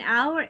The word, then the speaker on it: hour: Las dos empiezan con H, pero en hour es silent la H y en house tiene sonido la H.